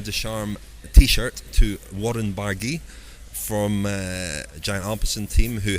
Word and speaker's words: Barguil: Warren Barguil. Yeah, you do pronounce the L at the end. There's a little L. Yes, we do. Yeah, Barguil.